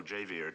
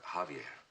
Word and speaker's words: Javier: managed to trace Pablo jaier to the Crestmont Hotel Javier beg pardon sir Javier not Javier The The J is silent you pronounce it like a ha uh Javier I can't